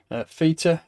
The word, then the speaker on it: Theta: If we look at Theta, I'm calling it Theta today. I usually call it Feta like a Yorkshireman, but I'll pronounce it properly.